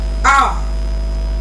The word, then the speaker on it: hour: Also another instance of that kind of example is the word hour.